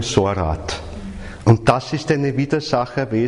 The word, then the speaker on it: Sorat: écrit dedans - alors ce sont les lettres S, O, R et T, prononcées Sorat.